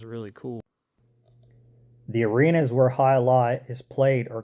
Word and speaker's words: alai: Alai. That's how that's pronounced.